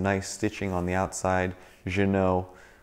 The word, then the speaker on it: Ginault: stitching on the outside Janome on the front that's the fancy way of pronouncing it I'm sure kind of like Renault Renault once you open up